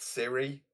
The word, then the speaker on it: Cyril: You've got a butler that's called it's spelt Cyril but pronounced Siri.